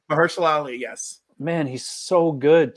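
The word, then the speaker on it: Mahershala Ali: Ali is that how you say his name mersel Ali yes man he's so good too like he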